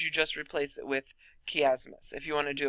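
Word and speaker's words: chiasmus: what we call a kiasmos the chi is actually pronounced with key not AI now this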